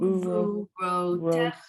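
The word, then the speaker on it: וּגְבוּרֹתֶיךָ: So because you've got the sharuk, the vav with the dot in the middle, followed by a letter that has a shava under it, you're going to bring them together as one syllable, and that syllable is going to start with u and end with whatever the consonant is, a g, a d,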